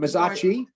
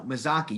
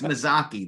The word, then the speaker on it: Mazzocchi: Is it Mazzacchi? No, Mazzocchi. You are the worst at pronouncing Italian names. They should make you the Scott. It's Mazzocchi. That's correct.